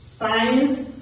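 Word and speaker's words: science: आप ध्यान से देखे अगर सी के पहले एस रहता है सी के पहले अगर एस रहता है तो वो सी साइलेंट हो जाता है तो यहां पर सी सी सी अगर सी से पहले एस आता है तो वह सी साइलेंट हो जाएगा जैसा की सीन साइंस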